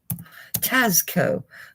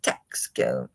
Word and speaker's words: Tasco: Tasco. I should say it properly. I always like saying it Texaco.